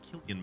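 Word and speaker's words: Cillian: was never a language major so how to pronounce San Murphy's name okay all right so they do say killan Murphy so Tom Hardy has the other one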